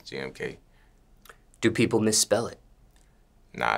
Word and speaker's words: GMK: what is the correct way to pronounce your stage name gmk do people mispronounce this uh yeah some people call me some people call me different types of thing but it's jmk do people misspell it